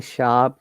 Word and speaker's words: sharp: Okay, when I'm pronouncing sharp, there is no R sound because I'm trying to pronounce according to the British IPA.